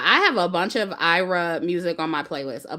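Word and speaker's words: Ayra: See, I was pronouncing it right earlier. Ira, that's her name.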